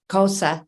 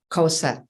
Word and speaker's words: Xhosa: And it comes from the Zulu and Xhosa cultures.